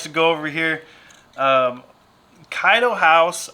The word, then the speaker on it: Kaido House: go over here um kaido house i always say keto house so i apologize to